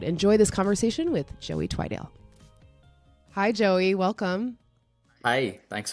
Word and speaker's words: Twidale: Twidale. Twidale.